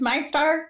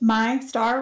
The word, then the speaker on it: Meistar: My name's My Star, pronounced My Star, regardless of what Thomas says over and over and over again.